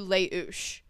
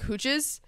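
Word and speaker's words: Les Houches: trail we ended up taking a bus to leou I know how to pronounce that one too it's pronounced it's called Le h o u c h e s and it sounds like hooches and that's what I was calling it which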